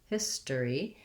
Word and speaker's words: history: we look at history history is that the or the letters or are no longer stressed this has first syllable stress and the stress is on the his part so it just sounds like the word hiss with an s sound history and then um we tend to that o r becomes more of just an er sound so his der e history uh long short